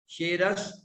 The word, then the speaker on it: शिरस: यहाँ शि, यहाँ पर तालव्य शकार है, और तट से पहले